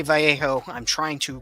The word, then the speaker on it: Vallejo: And I say Vallejo, I'm trying to pronounce it correctly instead of going Vallejo, which I used to do, or Vallejo.